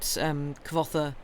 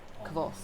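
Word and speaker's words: Kvothe: It's like, say it like quoth, which I assume to mean as in rhymes with quoth, rather than literally say quoth. Oh, okay. I think I've heard him say like quoth. Kvoth.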